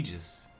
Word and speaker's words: Aegis: that ever again the shield of the Gods that is the egis yes you know even knowing the proper pronunciation I'll probably still call it Aegis forever you're wrong that's fine